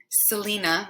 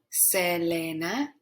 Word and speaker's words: Selena: to pronounce her name of course it is not selena we would say that in english selena but now you know that e is pronounced e and a is pronounced ah in spanish so give it a try i'll give you a minute before i tell you the correct pronunciation and if you said selena selena you are 100 correct and good job congratulations